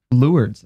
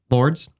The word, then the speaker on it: Lourdes: Lourdes. Okay. How do you say it? Lourdes.